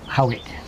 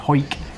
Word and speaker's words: Howick: You pronounce that Howick. Howick, yeah. So we have one in Scotland, spelt the same, but it's pronounced Hoik. Hoik.